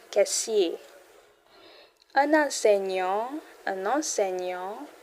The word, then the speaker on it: enseignant: Un enseignant, un enseignant, enseignant, gnang. Get the G and give that gnang.